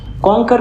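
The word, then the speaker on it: concur: SSC, bank, CDS, NDA, ऐसा कोई भी एग्जाम नहीं होगा जिसमें कॉन्कर नहीं आया हो। कॉन्कर का मतलब है कनकर, इसका प्रोनाउंसिएशन कनकर करेंगे।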